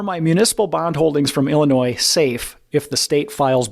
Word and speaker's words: Illinois: Next state on the list, Illinois. Or Illinois, for those that are wanting to pronounce the S.